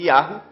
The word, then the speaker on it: Yahweh: Então eles pegaram, os padres, os papas, tiraram o nome do Criador, que é o tetagrama, que é YHWH, que dá a pronúncia de Yahweh, e substituíram na Bíblia por Senhor.